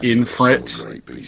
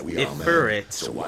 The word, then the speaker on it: Ifrit: To be fair, all my life growing up, my best friend put an N in Ifrit for some reason, like Infrit, and I still to this day do not know why he pronounced it that way.